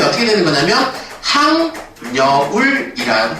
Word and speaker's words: 학여울: 동화가 일어납니다 그러면 최종 발음이 어떻게 되는 거냐면 항 여울이는 발음을 하겠죠 그래서 최종 발음이 하 여울이 아니라 학여울이